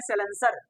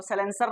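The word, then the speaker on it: silencer: जिससे धुआ निकलता है आमतौर पर कहते हैं सलेंसर तो साइलेंसर नहीं वो होता है साइलेंसर ठीक है ये हम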